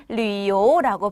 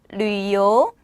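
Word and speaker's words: 旅游: 발음이 조금 어렵습니다. 집중하시고 류요라고 발음을 합니다. 류요. 류요. 자, 여러분들 이 발음이 어려운 이유는 요 정도의 발음이 나기 때문에 한국어에는 없죠.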